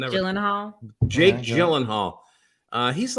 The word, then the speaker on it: Gyllenhaal: Is it hard G Jake- or soft G? Gyllenhaal.